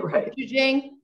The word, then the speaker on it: gochujang: I don't know how to pronounce it. A Korean red chili paste. Right. I don't know it. Guanchuala. Right. Gochujang.